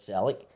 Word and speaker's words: Celtic: If you actually listen to Glaswegians talking about Celtic, it sounds like an S.